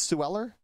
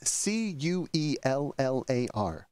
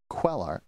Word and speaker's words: Cuellar: on sueller versus state do you think that's Sue Eller it would be pronounced cuer yes okay that's c-u-e-l-l-a-r quellar Cuellar in which this very